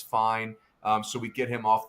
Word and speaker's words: Fien: 2 high school players that are coming into play in this range are Gavin Fine. It's spelled Fien.